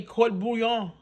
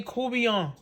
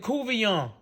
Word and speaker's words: courtbouillon: catfish koobiyon or some of you might say court bouillon because it's spell c-o-u-r-t-b-o-u-i-l-l-o-n but we put down say kubian some of y'all might pronounce it cuvion which is the people last name here in